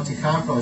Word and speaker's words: Takako: So you have to say ta first. Ta. Ta ka ko. Ta ka ko. Like that. 3 syllables. Ta ka ko. I say it too fast. I go takako. Yeah, right. So it's ta ka ko.